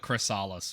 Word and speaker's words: Chrysalis: Let's just call it Chrysalis for now.